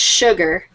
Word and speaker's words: Sugar: sir Alan sugar his his name is pronounced sugar I don't know why Su should not be sugar but it is y English like